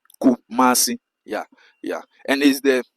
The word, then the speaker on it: Kumasi: They pronounce in many ways. Some they say kumi, some they say kum kumi many many ways but I I I normally correct them in the right name is Kumasi and the city of the Ghana especially second